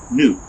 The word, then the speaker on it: nuc: with it wooden stock nuke now some people pronounce that a nook uh around here we call it a nuke whatever it's for